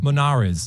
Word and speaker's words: Monarez: Uh, Monarez.